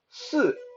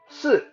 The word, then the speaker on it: 四: So uh, imagine you want to say uh, cheese, but rather than having the end of the word silent, you want to make that loud.